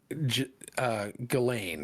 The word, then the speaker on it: Ghislaine: And I think it's actually pronounced Ghislaine. Ghislaine.